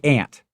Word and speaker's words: aunt: Well, aunt rhymes with haunt.